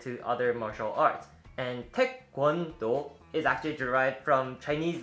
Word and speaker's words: taekwondo: some people pronounce it taekwondo but it's actually more like taekwondo and again it's but it's actually more pronounced like like g instead of k taekwondo is a korean